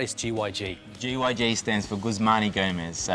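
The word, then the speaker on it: Guzman y Gomez: maybe elaborate what is gyg gyg stands for gusmani gomez so it's a mexican inspired restaurant and um yeah guzmani gomez is how you pronounce it okay for an italian and an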